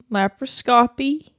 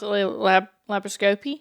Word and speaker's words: laparoscopy: cuz you're like or is it lab laparoscopy? It's not. See, cuz that sounds dumb, too. It's scopy. That's how they continued to say it when I was there. It's scopy. Laparoscopy.